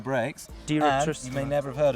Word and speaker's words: Direttissima: I got one thing, I couldn't even pronounce it. How do you say that? These are called Trickstuff Direttissima brakes. Direttissima.